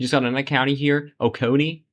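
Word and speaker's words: Oconee: Okonei Okone is how you pronounce it.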